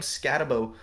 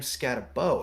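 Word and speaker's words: Skattebo: I'll have to figure out how to pronounce his name. Austin Eckler 43, and Brayen Allen 44. I've heard it scatter. And there's only one. So I'm thinking it's Bo. I'm thinking it's Cam Scatabo.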